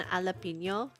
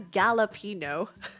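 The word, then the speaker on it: jalapeño: which is slightly on purpose, but you know what about the J and alapino? You do not pronounce the J in that. It's not called the Galapino.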